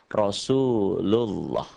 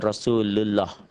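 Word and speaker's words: رسول الله: yang kayak gini nih Pokoknya kalau sebelum lafadz Allah ini ada huruf yang berbaris di atas dibacanya menjadi talled atau tafkhim atau tebel Rosulullah bukan Rasulullah Rasulullah Hai atau yang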